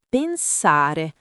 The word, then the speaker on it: pensare: Ci fai non separato e pensare con la e aperta, tipo pensare non chiusa.